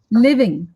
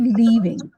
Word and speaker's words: living: but obvious points okay and secondly few um pronunciation mistakes like living it's it's a short eye sound you cannot give leaving when you are leaving when you're living living